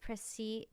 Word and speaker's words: précis: Would you believe that it's pronounced Précy? Really? Interesting. So the court has now heard a précis of the case.